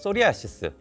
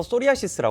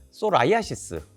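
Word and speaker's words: psoriasis: 말씀드리지만 얘가 좀 어려워요 건선이 영어로 소리아 이게 또 피는 무음이에요 그래서 소리아 이스라 부르는데 저기 유럽적 학회를가 보면은 외국 의사들은 다 소라이 아시스 이렇게 부르더라고요 발음도 다 제각각이고 하여튼 좀 어려우네요 자 그래서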